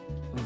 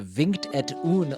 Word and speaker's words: Vingt-et-un: I find that interesting because apparently Vingt-et-un (Vont-ee-onn) means 21 in French, and is the French name for "Blackjack". Without Google Translate and the the ability to hear how words are pronounced I'd still be over here saying Vingt-et-un like a heathen.